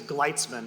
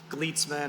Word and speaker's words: Glesman: phonetic name matching so my last name is glesman which no one can pronounce if they're cold calling me on the phone I get gleitsman and glutes men and all these like very strange constructions but uh when I